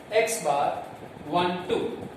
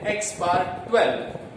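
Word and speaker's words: x̄₁₂: Now if there are two groups, then it is called x bar 1 2. Now dear friends, कुछ students इसको pronounce करते हैं x bar 12.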